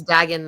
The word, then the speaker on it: Dagon: it's Dagon though.